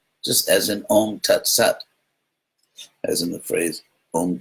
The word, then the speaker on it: sat: And if you're interested in historical linguistics, the S in the word Sat is the same S in the English word is.